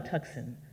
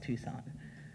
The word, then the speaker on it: Tucson: are moving to Tucson how do you spell that tu si s o n you spell tuckson it's pronounced Tucson we're moving to a